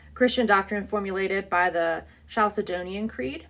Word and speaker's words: Chalcedonian: kind of um Christian doctrine formulated by the chalcedonian Creed Caledonian Caledonian Creed thank you I think I've said